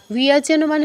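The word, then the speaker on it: ব্যজনম: এটার উচ্চারণটা একটু কঠিন মনে হতে পারে, একদমই কঠিন নয়। ও এর সাথে ইয় কী হবে? বিয়, বিয়। তারপর জনম, এটা তো সহজ, বিয়জনম, বিয়জনে, বিয়জনানি, এরকম।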